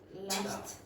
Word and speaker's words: laughed: it's a regular verb, if the sound is voiceless, so you don't have any vibration in the vocal cords, then when you get the past form, the ed form, you pronounce it like t, t, t.